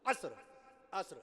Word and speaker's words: عصر: عصر کی نماز نہیں، عصر کی نماز نہیں ہوتی، عصر۔ اللہ نے قرآن مجید میں اس کا تلفظ بتایا، اعوذ باللہ من الشیطان الرجیم، والعصر، قسم ہے عصر کی۔ دیکھیے قرآن مجید نے عصر بتایا نا، فجر نہیں، فجر کی نماز نہیں، فجر کیا؟